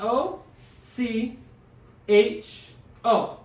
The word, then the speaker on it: ocho: it is in english it starts with an o c h o so it's also two syllables syllables it's ocho so same soul a couple